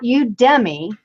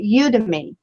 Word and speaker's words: Udemy: so it's not you it's not you Demi because then that sounds like you dummy you know so you